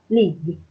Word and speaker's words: league: Cái chữ league này là cái chữ G-U-E, mình chỉ phát âm hai chữ G thôi. League. League.